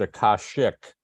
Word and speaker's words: Akasic: That's a Sanskrit word, and it's actually pronounced Akashic.